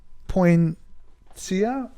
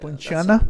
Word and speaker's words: Poinciana: And a Royal Poincia. But I think I might pronounce Royal Poinciana. Yeah. Poinciana. That sounds right.